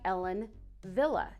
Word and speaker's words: Ellen Wille: say, new faves, which is called Arrow by Ellen Wille.